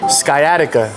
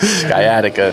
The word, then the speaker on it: sciatica: I was trying to pronounce it and my wife was like, "That's definitely not how you say it." Sciatica.